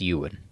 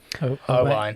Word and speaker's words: Owain: But one of those names was, I'm thinking it's Ewan. It's spelled Owain. Okay. Owain. Owain. Owain. Yeah. It's Welsh. It is Welsh.